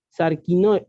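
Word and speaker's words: σάρκινος: a qué viene ser ese ere k&n o sarkin parking tarquino y parking hoy esa palabra sarkin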